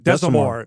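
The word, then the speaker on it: Desormeaux: Desamore, yeah.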